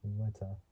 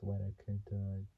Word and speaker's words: Weta: To create Walker's likeness, the filmmakers hired Peter Jackson's Weta. Can't really say what, but it's spelled WETA. It's like saying wet, but adding the letter A, and then digital visual effects house.